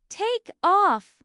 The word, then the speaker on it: take off: The stress is on-off in both meanings. Take off.